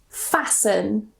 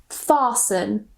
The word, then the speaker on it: fasten: So we just pronounce it sun, sun. For example, fasten or fasten, glisten, listen, moisten.